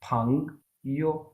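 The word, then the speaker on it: 朋友: यो यो क्योंकि फातिमा ये जो यो है ये न्यूट्रल है। इसको हम बहुत इसको हम यो से नहीं प्रोनाउंस करेंगे। इसको बिल्कुल लाइट सा विदाउट एनी स्ट्रेस पढ़ेंगे। फंग यो ठीक है फंग और उसके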